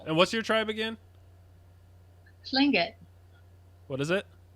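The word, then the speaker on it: Tlingit: drive oh nice and what's your tribe again sling it what is it fling it okay how do you spell that t-l-i-n-g-i-t oh okay see I thought you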